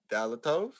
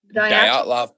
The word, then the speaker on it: Dyatlov: we talked about the Dyaltov, right? That was how it's pronounced? Dyatlov Pass. Dyaltov. I'm not. Fuck that word too. Dyatlov. Yep. It's Russian.